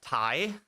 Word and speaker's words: Ti: It's actually pronounced Thai, not TI.